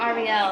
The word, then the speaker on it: Ariel: Hey, is it Ariel or Ariel? It's Ariel, yeah. Ariel. Just So one L at the I've been end.